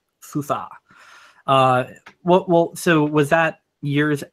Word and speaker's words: SUSE: I think SUSE. It's SUSE. It's properly pronounced. SUSE.